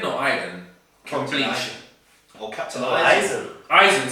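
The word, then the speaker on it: Aizen: The next one is Madara from Naruto versus, I don't know how to pronounce his name. Aiden or Aiden? From Captain Bleach. Eisen.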